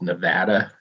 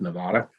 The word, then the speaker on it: Nevada: than the fact that it's pronounced Nevada not Nevada you knew I was going